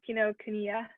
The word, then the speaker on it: Kinokuniya: Kinokuniya. Kinokuniya. Yes, thank you. It's okay to laugh at how I pronounce it.